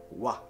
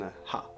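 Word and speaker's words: は: Sì, lo so, avete imparato che questo carattere si legge ha, ma quando funge la particella abbiamo un'eccezione. Infatti si leggerà wa e non ha.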